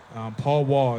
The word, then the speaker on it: powwow: As Gnu said, powwow is one of those words. Paul Wall is really how you say it, and it's the leader of ceremonies.